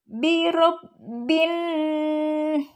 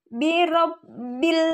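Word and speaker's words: بِرَبِّ النَّاسِ: Syamsiah yaitu huruf nun maka dibacanya tidak nampak huruf al-nya birabbin Bukan birabbil tapi langsung masuk ke huruf nun birabbin nah yang demikian disebut alif lam syamsiah setelah alif lam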